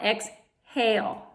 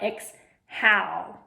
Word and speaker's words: exhale: exhale inhale exhale okay X hey hold the silent E right there tells the a to say a long a sound exhale right not X how which is not a